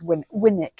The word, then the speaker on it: Winwick: Lots of people say Winwick. Winwick, indeed. It's Winwick. Yeah, yes, it's a silent W.